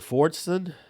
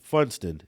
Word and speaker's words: Funston: Fordson. Is that how do you say this guy's name? Him being in Megan's law getting released ain't enough. Funston.